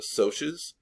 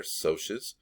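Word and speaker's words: Socs: his friends from the sotius that's how you pronounce that word right there sotius provide a quote that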